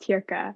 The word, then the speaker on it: Teerka: Sorry, before we continue, my name's pronounced Teerka, Oh, but I yes, apologize.